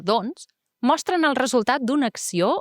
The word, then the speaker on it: doncs: castellà en comptes del doncs. Recordeu que quan diem doncs, la C normalment no es pronuncia.